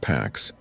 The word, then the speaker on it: P4X: He layered anonymity, used rented cloud instances, and hid behind the handle P4X pronounced packs.